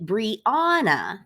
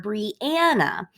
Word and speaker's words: Brianna: We say Brianna or Brianna. Either one of those puts an emphasis on the middle syllable.